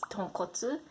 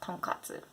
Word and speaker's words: tonkotsu: So it's tonkotsu, not tonkatsu. Number 9, hirame, not hirame.